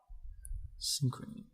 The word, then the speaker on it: Psynchrony: I'm gonna spell it for you because the spelling is Is it SYNCHR? It's PSYNCHRONY. Synchrony.